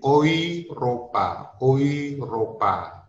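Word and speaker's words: Europa: Sementara kalau EU itu dibaca OI. Makanya kalau EU Ropa dibaca menjadi Oiropa.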